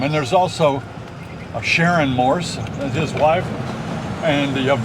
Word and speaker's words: Morse: We're driving along Morse Boulevard. Now, that's not Morris. A lot of people spell it M-O-R-R-I-S. No, it's Morse like the code.